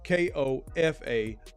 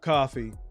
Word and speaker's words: Kofa: Kofa, not coffee, not, not Kofi, or any variation thereof. Kofa rhymes with sofa.